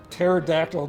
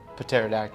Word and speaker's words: pterodactyl: can't you hear a pterodactyl go to the bathroom because they're extinct no because there P is silent hmm Patera attacked Oh got it okay